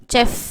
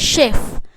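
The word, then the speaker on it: chef: இல்லையா சோ இது வந்து நம்ம நிறைய பேர் வந்து சே சே சவுண்ட்ல படிப்போம். செப் அப்படின்னு சொல்லி படிப்போம். சோ இங்க வந்து இச் சவுண்டுன்றதவிட ஷெப் ஷெப் அந்த இஷ் கரெக்டான உச்சரிப்பு நீங்க கூகுல போட்டு பாத்தீங்கனாலும் சரி இல்ல வந்து அதோட ப்ரனௌன்சியேஷன் பார்க்கும்போது ஷெப் ஷே ஷ சவுண்டுதான் வரும் ஓகேங்களா சே சவுண்ட் இல்ல சேனா இச்ன்ற சவுண்டு வந்துரும். ஆனா அங்க இச்ன்ற சவுண்ட் வராது ஷெப் ஷெப் அப்படிங்கற சவுண்டு.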